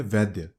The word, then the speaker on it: वैद्य: ज्योतिर्लिंग माना जाता है अब वैद्य का शुद्ध उच्चारण होता है वैद्य यानी की चिकित्सा या